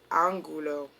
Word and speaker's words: Angulo: Her officer's name was Don Ramon de Lopez y Angulo. Angulo. I think I said it right the first time. I think the second time and third time I should have just shut the fuck up.